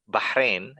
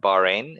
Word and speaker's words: Bahrain: listeners yeah for sure so bahrain actually it's pronounced but bahrain it's much easier it rolls off the tongue it's a small island